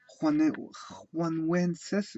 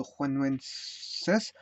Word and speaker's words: Januenses: Ça s'écrit Januenses, mais ça, pour moi ça se dit Juanuenses.